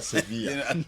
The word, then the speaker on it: Sevilla: So Spanish, no mono L double no be pronounce Y. Yeah. Okay. Some can Sevilla.